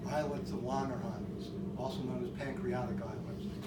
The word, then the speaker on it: Langerhans: And the pancreatic islets, the islets of Langerhans, to say his name properly, produce insulin and glucagon.